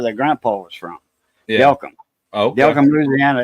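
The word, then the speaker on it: Delcambre: They their last name's actually pronounced Delcom, and that's where their grandpa was from. Yeah. Delcom, Okay.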